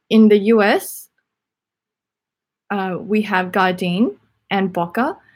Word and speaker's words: Gardein: I don't know what country you're from, but in the US, we have Gardein and Boca. So Gardein is spelled like garden, but with an I before the N.